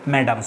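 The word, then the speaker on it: mesdames: এই বানানটা দেখে নেবে মেসডেম যেটা দেখাচ্ছি আসলে ম্যাডামস উচ্চারণ হবেয়ার ফ্রেন্ডস এই হচ্ছে ফ্রেঞ্চ আর দুটো শব্দ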